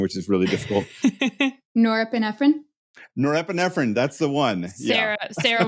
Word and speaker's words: norepinephrine: the name of because I figured out the pronunciation which is really difficult norrine norepinephrine that's the one Sarah Sarah would awesome love